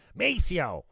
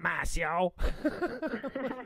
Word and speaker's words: Maceo: in the booth uh wasn't sure of maceo's name mispronounced it and van corrected me immediately with a little little bit of attitude macio not mass yo that's so funny so